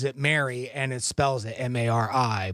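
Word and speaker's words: Mari: my wife's boss's name is Mary and she's pronounces it Mary and it spells it m-a-r-i but uh yeah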